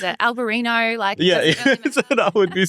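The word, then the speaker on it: Albariño: And I'd like you to pronounce it because... Yeah, so this is Albarino.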